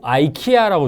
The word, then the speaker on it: IKEA: 이렇게 얘기하면 또 아이키아라고 주로 원어민들이 발음하더라고요.